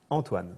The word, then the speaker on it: Antoine: Antoine, but how do you pronounce it? Antoine.